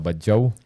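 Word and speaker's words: Badjao: By the way, ang atong pag-pronounce ana is badyaw. So the way badyaw. Well, soft na ilang pag-mention, di gina sila gahi. Ang kita ra yung Bisaya, may gahi kayo.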